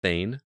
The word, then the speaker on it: Thane: It's pronounced Thane. There you go. It's like the character from Mass Effect.